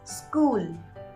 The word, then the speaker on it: school: Here, if you use an extra E syllable in the starting, you will pronounce it as school.